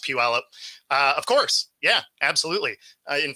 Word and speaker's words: Puyallup: Puyallup. Don't even try, man. We have a lot of Native American cities here. So that's pronounced Puyallup.